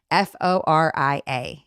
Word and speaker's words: Foria: Spell it. Foria. And it's supposed to be like a play, Foria.